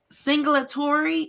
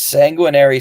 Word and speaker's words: sanguinary: And you have to put that title in the comment section because that word singulatory, is that how you say it? So it's Sanguinary Song, Sanguinary Song.